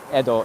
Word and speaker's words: Edo: or yeah during the I think we will pronounce it Ido or Edo in Japanese the Edo period um